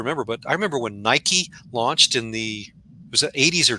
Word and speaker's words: Nike: everybody pronounced it like mike and i remember they ran a few ad campaigns on on how to pronounce it you know it's nike it was like greek for victory or something like that and it was just